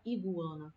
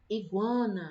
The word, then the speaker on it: iguana: a gente tá levando a gente não fala e buana certo então Iguana a gente percebe que